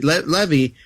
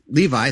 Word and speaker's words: Levi: I didn't have high hopes for Zach Levy. Levy. Levi. There it is. Third pronunciation is the charm as Shazam grown up.